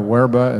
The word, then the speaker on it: verba: Ipsissima verba or verba, as Latin students would pronounce it properly, or ipsissima vox or vox.